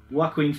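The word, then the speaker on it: Joaquin: heath ledger jared leto juaquin phoenix you probably think i'm saying that wrong but i checked out quite a few interviews and i'm pretty sure that's how it's pronounced and the other who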